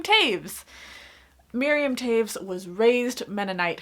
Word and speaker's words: Toews: Yes, I said Toews. I had to watch a video by The Poptimist to realize that in my review of this book, I said it wrong, because I kept saying Miriam Toews, but it's Miriam Toews.